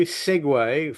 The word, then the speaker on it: segue: But segue, s Guue, pronounced segue, means to meld from one thing to another.